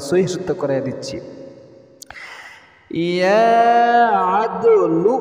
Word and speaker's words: ইয়া আদলু: ইয়া আদলু বলেন, বলতে হবে, না বললে সহি শুদ্ধ হবে না। ইয়া আদলু, ইয়া আদলু, ইয়া আদলু।